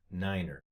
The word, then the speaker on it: Niner: here worth commenting is the number nine it is pronounced Niner of all the numbers this is the only one that is a little bit different let's say for example